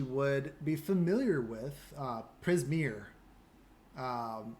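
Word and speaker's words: Prismeer: existence that she would be familiar with uh prismir um it's one of the uh the names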